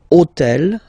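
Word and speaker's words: hôtel: took on purpose this otel okay because it starts with Ash but remember that in French we don't pronounce Ash okay so basically the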